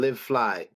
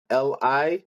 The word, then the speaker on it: LiveFli: So you can follow me on Live Fly. A lot of people pronounce it as it's spelled, like live fly, but it's LivefI. Hold on, Livefli.